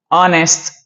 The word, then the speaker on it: honest: I know this H is a consonant, but when you pronounce honest, you don't listen to the letter H.